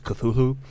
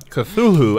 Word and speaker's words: Cthulhu: really apostrophes oh yeah i feel everyone though mispronounces cthulhu because they forget that last h so i just want one more time on the record that last day i think the last h is silent no i don't think so i think it wouldn't have put it in there if it was supposed to be silent you know what i've